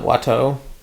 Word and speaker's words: Watteau: And he says this is a painter named Antoine Watteau.